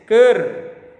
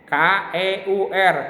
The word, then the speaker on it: keur: Nomor 2 tulis ker. K-E-U-R, ker dibacanya, jangan keur, ker.